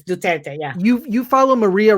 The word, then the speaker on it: Duterte: get duterte how you see it yeah it's duterte yeah you you follow maria ressa and her